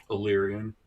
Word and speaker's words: Ellyrian: And then I believe that is Illyrian. Illyrian. Yeah. Like Illyrio, but with more of an S sound.